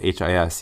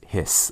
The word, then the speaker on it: His: And even though it's spelled H-I-S, you don't say his, it's hiss, almost like what a snake does.